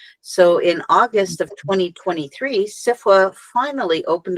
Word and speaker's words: SFWA: Poetry Community well sure um actually sfwa is pronounced CIFA and this is just a colloquialism that's just